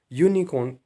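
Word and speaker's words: unicorn: Start हो रहा है, लेकिन यहाँ पर वोवल साउंड नहीं आ रहा है क्योंकि यूनिकॉर्न को प्रोनाउंस करते टाइम हम यूनिकॉर्न बोलते हैं और यू हमारा वोवल साउंड नहीं है।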